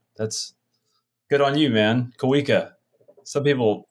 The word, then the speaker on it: Kaa: writer and director of out of Exile Kaa welcome to the show thank you for having me you got my middle name right that's good on you man Kaa some people pronounce it all kinds of weird I had